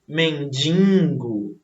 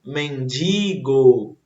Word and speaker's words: mendigo: É igual aqui essa outra palavra, mendigo ou mendigo? E aí? Eis a questão, né? Então, mais uma vez, o corretozinho não vai ser mendigo, e sim mendigo.